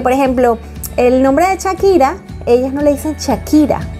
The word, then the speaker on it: Shakira: mi nombre es Shakira, pero la gente me dice Shakira porque la H es muda, claro.